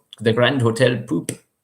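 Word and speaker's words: Pupp: Essentially, the hotel was called the Grand Hotel Poop, but it's spelled Pop, but they call it Poop.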